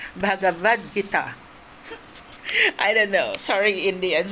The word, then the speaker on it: Bhagavad Gita: And I said, "Oh, how was it pronounced?" "Bhagavad Gita."